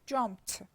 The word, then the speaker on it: jumped: We pronounce it te because pe is voiceless, and because of assimilation we pronounce it te, jumped.